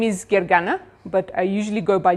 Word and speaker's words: Gergana: you who don't know me my name is Gary gana but I usually go by because that's a little bit easier to pronounce and you can find me on Twitter